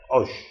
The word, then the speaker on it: عش: مفرد اعشاش عش ي المفروض ان احنا لما ننطق كلمه عش لابد ان احنا نضم حرف العين ي لازم نحط على العين ضمه هكذا كلمه عش هكذا و العش هو بيت